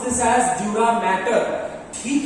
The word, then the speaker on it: dura mater: A lot of people will pronounce this as dura mater.